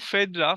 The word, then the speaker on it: Phaedra: একই সময়ে প্রায় তারা সমসাময়িক ওকে তো দেখো ফেদ্রা ফেদ্রার অনেক রকমের প্রোনাউন্সিয়েশন হয় এখানে ফেদ্রা এফ পি এইচ এ